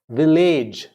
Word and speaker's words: village: Village. We all say age. It's not age. A-G-E is age. But when we write V-I-L-L-A-G-E, it'll become village. Village.